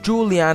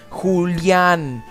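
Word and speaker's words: Julián: It's not Julian or Julian, Julian, with an accent on the A.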